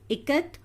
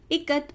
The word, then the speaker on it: Ikat: I as in it.